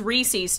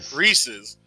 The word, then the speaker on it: Reese's: who made it say Reese's no it's Reese's I swear this was a thing isn't it meant to rhyme with pieces yeah no that's well